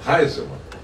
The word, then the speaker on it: Heiselmann: Heiselmann. Escreve Heiselmann e se pronuncia Heiselmann.